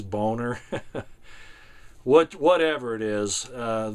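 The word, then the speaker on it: Boehner: to say his name he he pronounces it Boer but I think it really is boner what whatever it is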